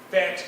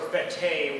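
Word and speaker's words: fête: Uh and I think it's pronounced fet or fete which is the French word for holiday.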